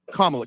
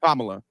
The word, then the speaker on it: Kamala: Donald Trump is a better candidate than, uh, Kamla.